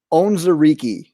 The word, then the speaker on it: Onwuzurike: Levi Onwuzurike.